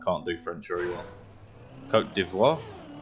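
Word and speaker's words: Côte d'Ivoire: do french very well coat devoir i think yeah there you go coach but yes in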